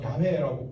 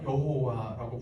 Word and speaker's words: 야훼: 그런데 그 다음에 야훼라고 하는 이름은 이제 우리 순복음에서는 본 원래 발음에 제일 가까운 야훼라고 부르고 있고요. 일반적으로 다 여호와라고 부르죠.